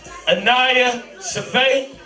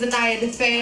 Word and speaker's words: Anaya Defay: Did I say it right? No. I ain't say it. When you come up here and say your name right then. What's up, everybody? My name is Anaya Defay.